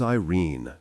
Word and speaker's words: Irene: Her name is Irene, Tai said, looking fondly at the links curled up beside him. Anous said again, rhymes with mean.